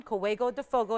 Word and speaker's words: Córrego de Fogo: That mine, Córrego de Fogo is how you say it.